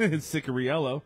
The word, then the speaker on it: Sicariello: So I've been saying Vincent Sicariello's name wrong this whole time. What is it? It's Sicariello. Sicariello?